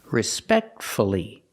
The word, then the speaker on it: respectfully: f l l y if you have two syllables and the stress is on the second syllable then pronounce the U respect see the stress is on the second syllable respectfully so we pronounce the